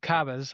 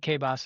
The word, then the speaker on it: CABAS: Yeah, we had Margot from Cabas. I said K-Bos and she said no, it's Cabas, so I gotta Yeah, say it right.